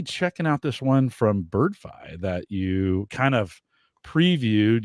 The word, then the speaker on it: Birdfy: I would say Birdfy because of Spotify. You would think, but yeah, no, but they said it's Birdfy.